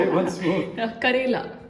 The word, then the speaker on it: Karela: I'm never going to pronounce that properly. Say it once more. Karela. Kerala.